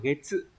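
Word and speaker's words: 月: À, chữ nguyệt có cách đọc là gatsu và getsu, nhưng mà trong trường hợp ghép âm ấy nó đọc là getsu.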